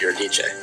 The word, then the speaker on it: Eurydice: Although I said Eurydice in front of some of my classicist friends, and I got yelled at by many of them because technically pronounced Eurydice.